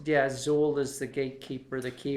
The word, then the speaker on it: Xul: It's Zool, which is X-U umlaut. L. There's an umlaut There's an umlaut. over the U. Right. But I'm assured by their website that it's pronounced Zool and may, in fact,